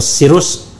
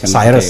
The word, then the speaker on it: Cyrus: Kalau ini ee sirus bacanya Cyrus atau sirus? Cyrus ya.